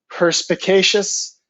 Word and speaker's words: perspicacious: So again, the word is pronounced perspicacious, having a ready insight into and understanding of things.